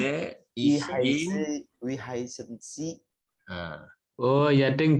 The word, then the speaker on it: Sie: Sie juga Pak, Sie atau si? Yang mana? Si. Sie apa si? Si, tidak pakai E. Dibacanya Oh, si. nggak pakai E.